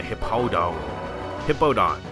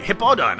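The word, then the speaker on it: Hippowdon: oh yes say goodbye the hippo hippo Don that's how you say hip all done oh wow I finally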